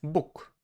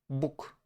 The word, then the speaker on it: Bóg: In Polish, it's Bóg, Bóg. Why? Because we have G at the end of the word, but G is harder. G, g, g, g, g, g, g, g. We use our throat. Therefore, we have to use the voiceless counterpart, Bóg, Bóg, Bóg, Bóg.